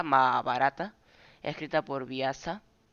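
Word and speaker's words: Mahābhārata: también más barata Ajá se pronuncia más barata escrita por biasa y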